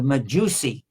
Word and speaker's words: Majusi: And by the way, Magi is a mispronunciation of Majusi.